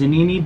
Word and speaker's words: Zanini: in part by is a Nene box I'm pretty sure I'm saying it right za and I and eyes and Nene kinda like panini right cool um they hit